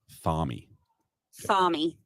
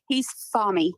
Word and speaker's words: Thami: So we just pronounce it like he's, like he says it. So he's Thami.